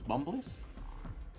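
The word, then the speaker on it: Bumbliss: Super Tetris 2 plus Bumblies. What? It feels Super so Tetris good. 2 plus Bumbless? Bumblies, yeah, like bump and then less, which is spelled LISS.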